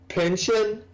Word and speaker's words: Pynchon: Pinchin? Yes. Okay. I believe that's how his name is pronounced.